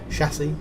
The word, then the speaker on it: chassis: I said look at the chasis the chasis chassis chassis that's how you pronounce it I finally got their